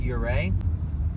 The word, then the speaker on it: Ouray: your ray it's smell really weird but it's pronounced your ray again it's another one of those next towns